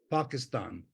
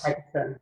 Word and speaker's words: Pakistan: like, I don't know, Pakistan, in an Indian pronunciation, I mean a South Asian pronunciation of that, the p has no breath with it.